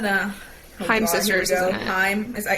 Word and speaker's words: Haim: Haim, is that how you pronounce it?